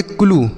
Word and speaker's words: clue: उसके बाद CLUE तो इसे हम पढ़ेंगे क्लू, क्या पढ़ेंगे क्लू। CRUE इसे पढ़ेंगे क्रू, समझ में आ गया। तो अगर यू के साथ ई लिखा रहेगा तो उसका उच्चारण हम बड़ाऊ की मात्रा के रूप में करते हैं, जैसे ट्रू, ब्लू, ग्लू,